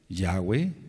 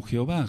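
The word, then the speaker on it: Yahweh: yod He B he el bendito nombre de yahwe no se puede pronunciar como Jehová es imposible mencionarlo como Jehová y tampoco puede ser por ejemplo la letra b antes del exilio a Babilonia sonaba y de hecho debe sonar Como dobleu por ejemplo decimos melej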